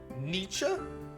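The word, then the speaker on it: Nietzsche: Holy It's pronounced Nietze.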